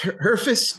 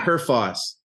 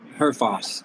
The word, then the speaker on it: Herfoss: check your last name is it pronounced heris or Heros Heros yeah Heros h r f f okay exactly how it's pronoun how it reads really yeah okay that's